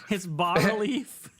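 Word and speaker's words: bas-relief: it's bas relief.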